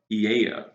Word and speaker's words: Aeaea: A-E-A-E-A. That is a word that you will see here. All vowels, and it's pronounced Aeaea. Aeaea. Just think about like Lil Jon and what he says in the song.